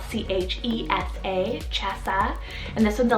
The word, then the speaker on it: Chessa: on the girls side i have chessa spelt c-h-e-s-a chesa and this one's a latin variant meaning